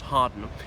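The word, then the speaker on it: Hawarden: first became prime minister 1868 he was at hardin his estate in wales i know it's spelt howard but pronounced harden where he was chopping trees and the news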